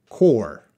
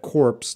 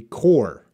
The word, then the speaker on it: corps: think you know that two of those letters are silent so we would pronounce that cor we do not pronounce that corpse no no no that would be very wrong it'd be cor I think you know